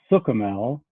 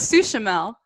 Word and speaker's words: Suchomel: So it is Suchomel. It rhymes with book-o-mel. That's the only way I can describe it. I for some reason thought it was Suchomel.